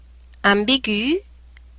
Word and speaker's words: ambigu: And when you find it, you have to pronounce each vowel separately. E, Noël, Christmas. I, naïve, like naive or innocent. U, ambigu, which means ambiguous.